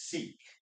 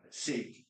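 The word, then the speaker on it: Sikh: Um, Simron Jet Singh um is Seek. Um, a lot of people confuse uh sick. Actually, I think the right pronunciation is sick, but I feel weird saying sick.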